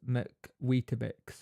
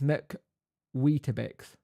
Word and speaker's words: McWeetabix: It's pronounced McWeetabix. So it's McWeetabix.